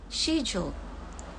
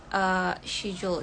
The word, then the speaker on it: schedule: Pengucapannya untuk yang British itu schedule. Schedule. Schedule. Jadi ininya apa? She-nya tuh nggak pakai C-nya tuh nggak dibaca K gitu. Jadi schedule. Kalau American kan dibacanya schedule. Schedule. C-nya jadi K gitu kan ya kalau American.